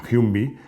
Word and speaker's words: Humvee: Bueno, toda esta ensalada de iniciales se pronuncia Humvee, que es de donde viene ese nombre.